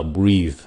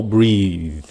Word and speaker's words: breathe: Cái chữ kế nữa là breathe. Chữ này là bath. Chữ kia là bathe. Nó phát âm nó cũng giống giống nhau. Cái âm kia thì nó rung rung cái cổ breathe.